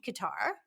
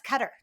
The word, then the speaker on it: Qatar: today i'm missing anything they've changed the pronunciation because i grew up in school yeah saying qatar right in the war years ago yeah and now it's cutter so that's the correct way to say it now so whoever i've offended